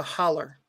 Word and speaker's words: holler: okay what is a holler well holler is actually not the right word it's it's the local uh pronunciation it's hollow h-o-l-l-o-w but locally they pronounce it a holler in in western said